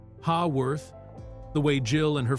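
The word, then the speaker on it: Haworth: they consistently struggled to reproduce the proper British pronunciation. Instead of saying Hawworth the way Jill and her family had always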